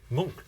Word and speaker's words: Munch: That's not how you pronounce his name? Edvard Munch. Munch.